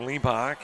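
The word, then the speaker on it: Hlebak: Got to put a little air in the tires for Lebach. And again, I'm I'm using the H is silent.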